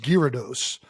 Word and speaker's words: Gyarados: um this I mean it's got a gy I think unless we're going like Greek urados uh apparently it's pronounced Gyarados which I've never seen a gy go gear but you know whatever and I guess we